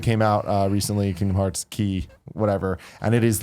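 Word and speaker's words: χ: I've heard people say it's key, but I don't know. I don't really understand. They renamed the X. It's key. They should spell it Key.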